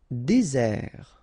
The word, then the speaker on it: désert: Désert, okay, remember, final T not pronounced, désert, and really this z sound just because you get one S between the two vowels, okay, z, désert. Décider, okay, remember, accent aigu